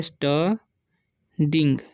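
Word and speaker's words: studying: स्टडिंग, स्टडी, ठीक है, स्टडिंग। अब स्टडिंग कैसे पढ़ें, यू का उच्चारण यहाँ पर अ हो रहा है, ठीक है। और आई एन जी से तो इंग हो जाएगा।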